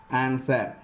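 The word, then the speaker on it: answer: அது என்னென்ன பாருங்கள், ஹூ, ஹூஸ், ஹோல், ஆன்சர், இந்த மாதிரியான இடங்கள்ல எல்லாம் டபிள்யூ சைலண்ட் ஆகுது. நல்லா பார்த்துக்குங்க. அதாவது ஹூ, ஹூஸ், ஹோல், ஆன்சர், இந்த மாதிரியான வேர்ட்ஸில் டபிள்யூ சைலண்ட் ஆகுது.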